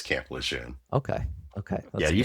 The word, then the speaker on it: Lejeune: Okay, It's Camp Lejeune. because there's a little bit of talk that's Camp Lejeune. Well, that depends on where you're from, but it's Camp Lejeune.